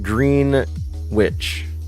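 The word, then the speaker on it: Greenwich: It's pronounced green witch.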